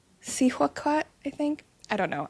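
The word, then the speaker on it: Cihuacōātl: I think it's Sihuaquat, I think. Sihuaquat, I think.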